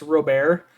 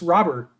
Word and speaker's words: Robert: convinced that his name his last name is pronounced Robert and he like went to the mat he like went to the map being like no no it's a French pronouncing it's a French pronunciation it's Robert said if you ask him like in interviews